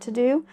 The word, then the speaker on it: TeuxDeux: I don't necessarily want to do. So one of the digital assets that has really benefited me is an app called the To-Do app. It's spelled Teuxdeux.